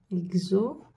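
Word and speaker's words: exotique: شوفي واش عندنا الكلمات اكزوتيك، اكزوتيك. الاكس تاعنا هنا واش نطقناها؟ اكز، اكزوتيك. واش نطقناها؟ اكز، اكز، اكزوتيك، اكزوتيك. عندنا كلمات مثلا اوغو، سعيد، اوغو.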